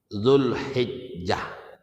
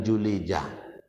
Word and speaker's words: Dzulhijjah: Dzulqa'dah, Dzulhijjah, bukan Julijah.